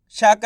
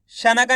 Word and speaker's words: शंका: शाम अनुस्वार की मात्रा शंग, काम आग की मात्रा का, तो मिलके बन जाएगा शंका। कैसे पढ़ेंगे? शंका। शना का नहीं पढ़ना, शंका, इस तरीके से पढ़ेंगे।